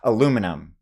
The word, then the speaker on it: aluminum: Now, aluminum's an interesting one because I've heard people say aluminium. Aluminium. That's like a British thing, I think, if you call it aluminium or whatever. Aluminum is how that is said, and that is the correct way to say it.